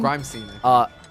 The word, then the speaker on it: Grimescene: Is it Grimacine? Grimescene? Grimescene. Yeah, Grimescene.